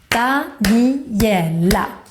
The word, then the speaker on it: Daniela: For example, my name, Daniela, has 4 syllables. Daniela.